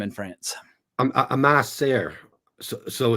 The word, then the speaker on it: Ma sœur: Ma sœur.